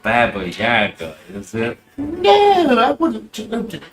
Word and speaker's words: Baba Yaga: Stay away from Yaga Baba. Baba Yaga. Baba Yaga.